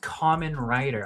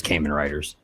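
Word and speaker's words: Kamen Rider: Com it's pronounced common rider. I didn't know that. Oh, I've been hearing people say for years Cayman writers I love VR troopers and superhuman samurai.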